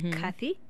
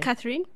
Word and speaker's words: Cathy: cliff okay okay but my name is Cathy please not Catherine not Catherine yes you can call